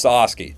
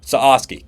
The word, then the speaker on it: Sasaki: be a Dodger I'm trying to view the pronunciation online saski Soki okay it's sasi sasi got it s he's going to be a